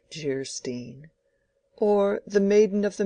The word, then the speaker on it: Geierstein: "Anne of Geierstein," pronounced Jeerstein, or "The Maiden of the Mist," by the author of Waverley.